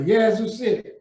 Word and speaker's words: Yazoo City: You pronounced my hometown correctly, Yazoo City.